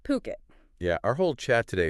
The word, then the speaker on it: Phuket: And remember, it's Puket, P H U T, pronounced Puket.